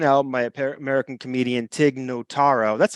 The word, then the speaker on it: Notaro: is the second album my American comedian Tig Notaro that's how you pronounce that name yeah it's a deeply personal set performed just four days after nataro was I think I just said it wrong